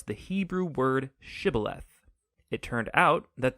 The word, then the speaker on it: shibboleth: pronounce the Hebrew word shibboleth. It turned out that the Ephraimites had grown up pronouncing that word differently, so instead of saying shibboleth, they would say sibboleth.